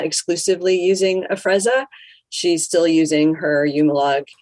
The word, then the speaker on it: Afrezza: might say it wrong is it a frezza you said it perfectly oh okay look at